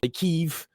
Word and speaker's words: Kyiv: Or Well, now and like it's not Kiev anymore. It's like Kyiv.